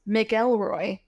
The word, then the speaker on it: McElroy: His name is spelled M C E L R O Y, which is Miguel Elroy.